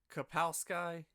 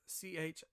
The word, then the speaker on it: Chbosky: That director, Steven Kapowski, I don't know how to say his name. It's Chbosky. Sky's in there somewhere.